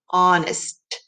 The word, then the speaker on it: honest: is like that but we do have an h in the beginning what do we hear at the end honest t good job let's